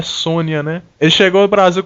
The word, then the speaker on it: Sonja: que chama Red Sonja que na verdade a pronúncia é Sônia né ele chegou ao